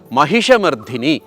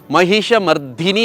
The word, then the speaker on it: ಮಹಿಷಮರ್ದಿನಿ: ಮಹಾಲಕ್ಷ್ಮಿ ಮತ್ತೊಂದೆಡೆ ಉಗ್ರ ರೂಪದ ಮಹಿಷಮರ್ಧಿನಿ ಈ ಒಂದು ವಾಕ್ಯದಲ್ಲಿ ನಾನು ಎರಡು ಶಬ್ದಗಳನ್ನು ತಪ್ಪಾಗಿ ಉಚ್ಚಾರ ಮಾಡಿದೆ ಒಂದು ವೈಡೂರ್ಯ ಅಲ್ಲ ವೈಡೂರ್ಯ ಮಹಿಷ ಮರ್ದಿನಿ ಅಲ್ಲ ಮರ್ದಿನಿ ಅಲ್ಪಪ್ರಾಣ ಮಹಿಷಮರ್ದಿನಿ ನಮ್ಮೆಲ್ಲರ ಮಹಾಪ್ರಾಣವಾಗಿದ್ದರು ಬರೆಯುವಾಗ ಮರ್ದಿನಿ